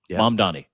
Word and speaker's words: Mamdani: Mom Donnie, that's how you say his name.